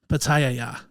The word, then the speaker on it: pitaya: I'm adding an extra ya in there. Pitaya. Pitaya. No, I was saying it right.